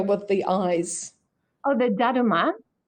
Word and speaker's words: Daruma: asking how do you spell it? The Uh, the the little figure with the eyes. oh, the Daruma. Dadima.